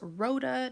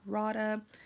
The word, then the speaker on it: Rhoda: mispronouncing your name earlier it's Rhoda not Radha but with the aid